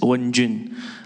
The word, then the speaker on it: Wenjun: Yeah, my name's pronunciation actually very easy, just Wenjun.